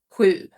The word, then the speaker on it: sju: So your tongue needs to be placed down, not up against your palate. So sju. That's how you would pronounce it.